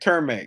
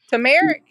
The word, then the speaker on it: turmeric: but um basil and they said termac you know termac who tournament I probably said it wrong tournament turmeric yeah that's what it is I said some people say turmeric I actually just busted